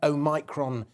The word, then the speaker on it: Omicron: And by the way, if you care, Omicron is the correct pronunciation.